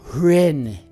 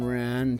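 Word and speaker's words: Wren: Bird whose first letter is silent. I don't know. I disagree with that. Hren.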